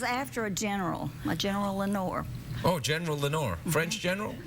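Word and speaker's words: Lenoir: little bitty Town mhm what's it called Lenor Lenor mhm like in the PO like in yeah the Raven Lenor it's not spelled the same way ah French it's French mhm the French have occupied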